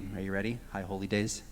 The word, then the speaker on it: High Holy Days: High Holy Days? High Holy Days, not High Holidays.